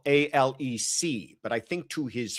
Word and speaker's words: Alex: the person would spell A-L-E-C. But I think to his friends and people who know him, he introduces himself as Alec, even though it is spelled as Alex.